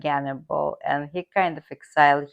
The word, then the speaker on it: Gannibal: carthaginian general Hannibal in in Russian transcription it pronounced gannibal ghal and that's how